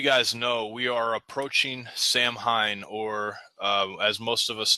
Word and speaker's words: Samhain: As most of you guys know, we are approaching Samhain, or as most of us know it as Halloween.